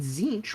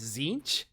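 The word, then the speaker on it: Tzeentch: of Prospero eventually Prospero would be forgotten and zinch would welcome into his court the planet of sorcerers and Magnus the red as its demon king that's how it's pronounced zinc zinc yes the t is silent things I'm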